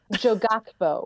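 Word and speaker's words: 조각보: Jogato, Jogakbo.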